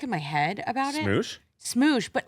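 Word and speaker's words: Smosh: It's S M O S H. And And it's not that hard. No, I mean it's like it's like you smoosh two things together.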